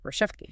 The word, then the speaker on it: Rachevsky: And also excerpts from O Minimo Sobre Ayn Rand by Roberta Rachevsky, pronounced Rashevsky. Rachevsky, got it.